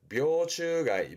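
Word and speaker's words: 病虫害: 묘추가이, 묘추가이.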